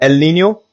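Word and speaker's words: El Niño: For example, El Nino pronounced El Nino events cause widespread warming of ocean surface temperatures.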